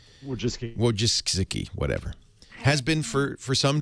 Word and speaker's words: Wojcicki: Larry Page is married to the very talented, how do you pronounce her last name? Ann Wojcicki. Wojcicki, whatever.